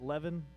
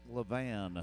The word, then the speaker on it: Levan: Let's bring in draw 474 from Dusty, is it Levin? Utah has some weird sounding. Utah has some. Where are you at here? Oh, that's Levan. Levan, Utah. If you spell it backwards, it spells navel, and it's the center